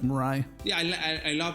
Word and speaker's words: Mirai: job on that yeah some more and i'm pronouncing that right correct mirai yeah i i love how you pronounce it